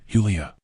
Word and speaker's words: Julia: translator for the Flyers he gave her name the Spanish pronunciation Julia I did not go